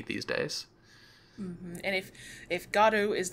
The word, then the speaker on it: Godot: So people might say it Godot or any number of ways people might say Godot, it. Yeah, Godot you'll sometimes hear. Yeah. I'm a weird literary person, so I'm like, well, the playwright of Waiting for Godot specifically said that God is an important syllable in the name. But yeah, either way works.